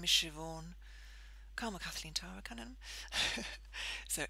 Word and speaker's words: Siobhan: It's spelt like S-I-O-B-H-A-N, which is apparently B and H in Gaelic is pronounced V.